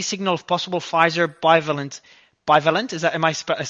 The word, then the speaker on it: bivalent: Bivalent? Am I pronouncing it correctly?